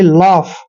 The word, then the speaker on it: lough: यहाँ पर जैसे फर्स्ट वर्ड है दोस्तों LOUGH, एल का उच्चारण हमेशा हमने ले करना है। क्या करना है? ले। और जहां पर OUGH का उच्चारण आता है वहां पर हम इसको फ पढ़ेंगे। क्या पढ़ेंगे? फ, यानी कि लाफ।